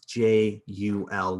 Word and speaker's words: jul: And in modern Scandinavian languages, the word for December and for the holiday is J-U-L, which of course in Scandinavian languages, J is always pronounced as a Y, so you had Jul.